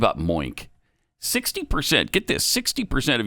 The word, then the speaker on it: Moink: It's spelled m o i n k. That's moo plus oink put together.